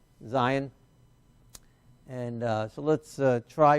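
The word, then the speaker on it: זין: the Zion Zion uh looks very similar to the vov but it's a little bit more zigzaggy all right so zigzag maybe that'll help you remember the difference and notice the difference and that makes the z sound Zion and uh so let's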